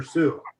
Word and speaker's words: Sioux: Is it Sioux or Sioux? Sioux, ain't it? Sioux. Yeah, I think Okay. It's spelled as Sioux, but it's pronounced Sioux. S-I-O-U. Sioux.